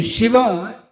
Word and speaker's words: Shiva: His word name Shiva Si B A SA is two syllables which means aspicious but